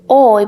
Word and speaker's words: hoy: here like this one instead of saying hold we say oi because the h has no sound at all in spanish and the u between